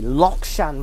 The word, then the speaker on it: Lok Shan: look look Shan brode although the technically the pronunciation should be lock Shan road but kmb pronounces it look look not lock it's Luke and next station is